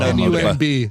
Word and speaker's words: Nunb: Oh, N-U-N-B.